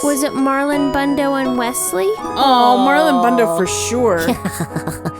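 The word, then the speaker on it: Westley: that the character's name in Princess Bride isn't Wesley it's Wesley yes West to yeah like I said Wesley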